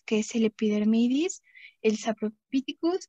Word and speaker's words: saprophyticus: A, de aureus, y el saprophyticus, aquí vamos a ver que casi siempre el sonido de PH en los nombres científicos va a sonar como F.